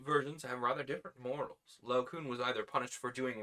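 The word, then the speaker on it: Laocoön: Is an English diaeresis indicating that each of the two vowels should be sounded as separate syllables, so it's Laocoon rather than Laocoon, which is an umlaut.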